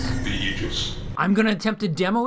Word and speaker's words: aegis: name of solstice next yes aegis is the right way to pronounce it i looked up the phonetic spelling in the dictionary because i'm dorky that